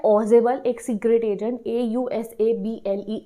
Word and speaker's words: Ausable: दूसरे है ऑजेबल, एक सीक्रेट एजेंट, AUSABLE ऑसेबल, और तीसरा है मैक्स, मैक्स की स्पेलिंग तो सिंपल है MAX मैक्स, ये एक और सीक्रेट एजेंट है।